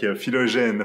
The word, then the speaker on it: Philogène: Philogène from Qovery.